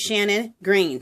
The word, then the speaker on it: Shannon Green: green and you guys I've been saying that name wrong her name is not Sharon it is Shannon green so sorry and I went ahead and changed it below where I have her link to Shannon not Sharon I can't believe I've